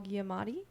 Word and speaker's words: Giamatti: Played the main guy is Paul Giamatti.